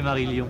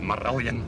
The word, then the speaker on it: Marillion: J'aime bien la manière française de prononcer Marillion. C'est joli. It's great. In Scotland it's like Marillion.